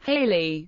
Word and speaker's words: Halley: kehal is commonly pronounced Haley rhyming with valy or rhyming with daily speakings of Edmund Hal's